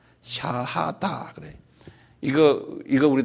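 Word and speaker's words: شهادة: 그다음에 다 샤하다 그래 이거 이거 우리 다 알아둘 필요 있어요. 한번 발음해 보실래요?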